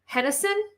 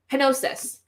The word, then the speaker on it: Henosis: Like Hennison? Something like that. I don't remember how to pronounce it. Henosis.